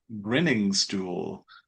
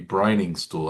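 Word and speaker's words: Briningstool: They pronounced his name a little differently than I expected. Grinning stool. Oh, we thought you thought it might be Brining Stool. That's what I I thought it was would be brining stool, yeah, but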